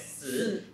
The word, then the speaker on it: 四: Well, 4 in Chinese, it's pronounced as 四, and then 四, it's very similar to... Death.